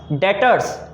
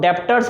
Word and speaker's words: debtors: डेटर्स। इसको बहुत लोग डेप्टर्स पढ़ते हैं, लेकिन इसमें बी साइलेंट है तो इसको पढ़ेंगे डेटर्स।